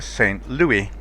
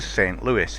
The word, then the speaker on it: St. Louis: Always have to be careful not to call it a St. Louis, which is my natural pronunciation for it, but not correct. This is a St. Louis. It's American, it's not French.